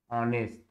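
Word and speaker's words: honest: इसी तरह I have seen an ऑनेस्ट मैन, I have seen an ऑनेस्ट मैन, तो आ से उच्चारण हुआ, भले ही हस एस से लिखा गया है लेकिन उच्चारण है आ से, इसलिए एन का प्रयोग।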